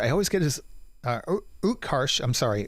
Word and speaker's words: Utkarsh: who i thought was absolutely uh fabulous uh quresh i always get his uh utkarsh i'm sorry utkarsh m ambudkar i always get his last name